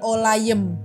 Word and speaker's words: olayım: and then ada itu olayim itu kayak I yang enggak ada titik bacanya e jadinya olayem jadinya catma kurban olayem